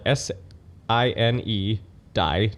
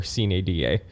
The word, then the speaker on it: sine die: So, sine die is a Latin term. It's spelled s i n e die d i e.